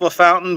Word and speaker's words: LaFountain: It is French. It is pronounced Le Fountain, but it is French.